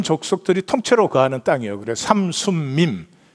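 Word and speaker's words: 삼숨밈: 그래서 삼순밈, 미음자가 3개 들어가니까 발음이 엄청 어려워요. 삼순밈.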